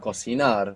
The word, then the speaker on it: cocinar: cocinar with the accent on the end.